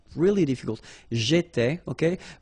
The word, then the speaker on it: étais: J'étais, okay? Remember, here we've got accent aigu, so it goes like et, all right?